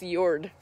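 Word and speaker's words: Jörd: names so we've got yord here so that's spelled j o umlaut um rd and so it's a soft j and if you can just channel your inner norwegian when you say it is what i've been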